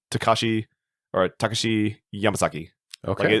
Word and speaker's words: Takashi: yamazaki yes Takashi yamazaki maybe should I stress the k no Takashi so when you're when you're pronouncing a uh Japanese kanakana okay or any kind of yeah Japanese uh words right every every uh I guess like syllable has to have the exact same uh time wasted on it so